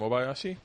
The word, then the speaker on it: Obayashi: but how do you say your last name Obayashi Obayashi yeah I'm in a I'm in a